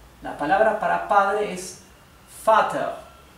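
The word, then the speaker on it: Vater: palabra para padre es Father Father Así que como pueden ver la v corta o la v se pronuncia como la f Father sin embargo hay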